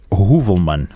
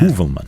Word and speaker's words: Heuvelman: Okay, so I have a question here from Daniel Heuvelman. No. Do you make these names up? No, and there's an umlaut above the O, which pronounce it ooh, isn't it?